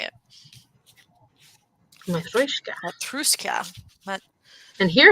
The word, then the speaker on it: Matryoshka: Matrushka. Matruska. Mat- And here it's spelled even different. It's Matrushka. Matrushka. Oh, I wish you could see my face. Oh, you said it right, Matryoshka. That's not how it's pronounced usually.